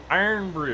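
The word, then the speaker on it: Irn-Bru: some iron Brew here iron Brew it's spelled irn BR Ru it is a I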